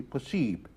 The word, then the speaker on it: possible: They have the same spelling, the same meaning, except for the pronunciation, IBLE in French is pronounced ib, like possible would be possible.